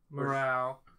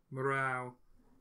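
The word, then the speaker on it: Murao: It's Mura... M-U-R-A-O. Morau. Shuko. Shuko Morau is how I pronounce that.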